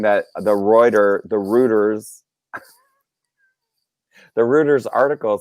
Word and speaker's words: Reuters: people are saying it's reuters it's reuters fourth quarter oh man dog bowser knows his things because he knows how to speed as chris cogden is saying it rhymes with goiters okay it hangs we